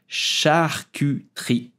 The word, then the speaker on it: charcuterie: French the socism for example so French will pronounce charcuterie is rooted in the belief that nothing from